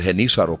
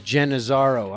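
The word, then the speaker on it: Genízaro: my mom's side wow they're called henissaro people in the south and they're all over new mexico there's a history of i was always reading it as jen azaro i'm saying it wrong yeah yeah okay i'm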